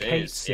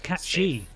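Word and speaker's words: Cait Sith: I read it as it Kate Sith yeah. forever. I'm like, no, that's not it. Stupid. It's Irish, I think. It's cat she. It's not pronounced Sith, but it looks like Sith.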